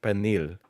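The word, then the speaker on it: pernil: I say it differently than some other people because there's an R in that word and some Spanish speakers pronounce penin with like an R, right?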